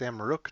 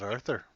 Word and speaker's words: Amrook: It's Amrook, not Arthur.